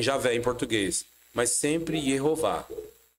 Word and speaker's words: Jeová: pronúncia do tetragrama mostram judeus de várias eras pronunciando o nome de Deus e todos do mesmo mesmo jeito nunca yahu e jamais Javé da onde vem Javé em português mas sempre Jeová é só você atentar o artigo digita aí